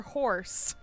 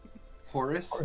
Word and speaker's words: Horus: were told where the is it horus or horse how do i say it horus like the egyptian god okay cool cause rizz